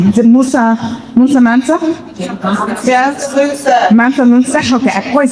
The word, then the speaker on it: Mansa Musa: We have, I'm going to get the name wrong, I always get his name wrong. Is it Musa Mansa? Yes, Musa. Mansa Musa?